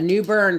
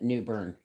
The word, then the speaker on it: New Bern: But that's way, yeah, a new burn, folks. New burn. That's a place in North Carolina, actually, isn't it? New Bern. But it's spelled B-E-R-N.